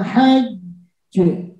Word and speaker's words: hajj: Maka cara membacanya wala jidala fil hajj. Hajj. Seperti itu.